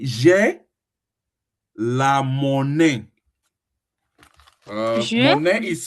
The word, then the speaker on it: monnaie: will not say j'ai la monnaie. J'ai Monnaie is spelled la.